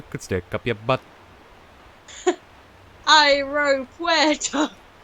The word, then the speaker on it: aeropuerto: Aeropuerto. That's how I taught Laura how to pronounce like the AE sound in Spanish, because like, go to the airport by boat, aeropuerto.